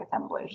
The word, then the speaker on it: assemblage: It looks like assemblage there, but they pronounced it the French way of assemblage because they wanted to sound fancy.